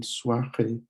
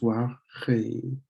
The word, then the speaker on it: soirée: There's the O and the I, soir, the R, so soir, soir, and then E. Here's an accent mark that lengthens the sound of the E, so it's soirée, soirée, and that means have a good night.